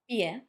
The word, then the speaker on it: pie: Then this word, written pie but pronounced pie.